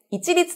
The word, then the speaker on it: 一律: 値段は一律です市立と読みますこれは一緒と